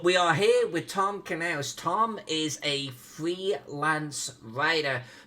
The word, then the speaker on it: Knauss: Tom, am I pronouncing this correctly? Knauss? no, it's Knauss.